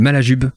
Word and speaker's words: Malajube: Mais moi, je suis un grand fan d'un groupe qui s'appelle Malajube. Je vous invite à aller écouter. C'est qu'avec un J, hein, comme ça se prononce.